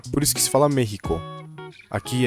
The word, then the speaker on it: México: A própria palavra do México em espanhol se fala México, com som de dois R's aqui. México.